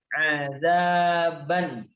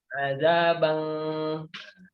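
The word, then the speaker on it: عذابا أليما: Di tanwin di huruf itu harus jelas. Tidak boleh kita membacanya dengan samar-samar. Azabang, karena samar-samar itu ada hukumnya sendiri. Samar-samar itu dibaca lebih ke sengau ya, huruf sengau, azabang, nah, itu enggak boleh. Jadi kita harus membacanya dengan jelas huruf nun atau tanwinnya. Azaban, ban, azaban, alima.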